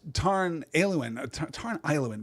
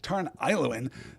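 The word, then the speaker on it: Tarn Aeluin: So we get Tarn Ailuin, probably, right? I don't know why I'm choosing right now to mispronounce that AE combination that we've had so many times. Tarn Ailuin, that is literally lake, blue lake, right?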